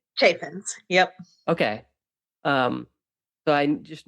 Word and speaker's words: Chaffins: I always get your last name wrong. Chaffins, right? Chaffins.